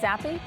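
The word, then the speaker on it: Zappe: by the pick of western kentucky quarterback bailey zappy that's how you say his name right zappy sure yeah great that's it all right he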